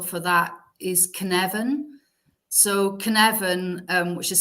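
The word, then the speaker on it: Cynefin: the working title for that is conect so Canan um which is spelled c y NE e f i n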